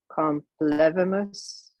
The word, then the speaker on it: complevimus: So would that be pronounced complevimus or? Complemus. Yeah. Okay. Yeah, and remember, it's a us, like put. It's not a moose. It doesn't rhyme with moose.